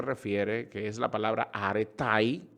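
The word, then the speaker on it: ἀρετή: que es la palabra aretai o areté se escribe areté se pronuncia aretai que quiere decir ah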